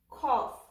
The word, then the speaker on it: cough: or er slaughter slaughter in this example gh will sound like f or let's spell it cup of cough cough draft draft as